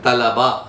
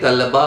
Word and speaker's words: तलबा: 538 पर है तलबा, तालिब का बहुवचन तलबा, विद्यार्थी। इसको कई लोग तलबा बोल देते हैं, तलबा बोलना गलत है, इसको आप बोला करें तलबा, तलबा, उदाबा, ये तलबा, तलबा यानी तालिब का बहुवचन तलबा, तालिब इल्म, विद्यार्थीगण, तलबा।